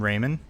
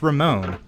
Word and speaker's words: Ramon: a young man named raymon apparently which is not his name you're saying it wrong it's Ramon oh wait wait let me redo you always do this Ramon that that's better in no way less creepy his